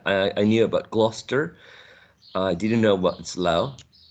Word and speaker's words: Gloucester: gloucester any other let's take a look it's pronounced gloucester gloucester number two how do you pronounce this oxfordshire